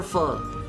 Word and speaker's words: pho: Like a good example of that is pho.